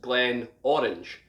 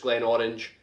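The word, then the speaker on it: Glenmorangie: and this is pronounced glenn orange now the reason this is pronounced glen orange is because glenn in gaelic is valley and where this distillery sits is a really big orange field where they grow loads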